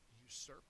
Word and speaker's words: usurp: antonym original and finally usurp is the last one uh it's a verb second syllable is accented it means to seize